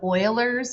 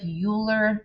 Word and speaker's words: Euler: class um so the last lesson is called euler's method it looks like euler but it's pronounced euler um what this is this is